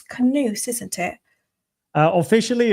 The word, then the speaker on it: Koen: it's so basically it's you can pronounce it as the second part of cocoon. So my normal name is Koen without the Z. The Z is, there's a long story to that from the gaming industry, which is my background. But basically, if you pronounce raccoon or cocoon, the second part is the pronunciation of my name, I suppose.